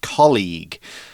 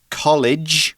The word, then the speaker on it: colleague: Now, a colleague, make sure, first of all, this is a hard G. It's a G sound. Colleague. It's not college, which is a school, which is a soft G. This is colleague.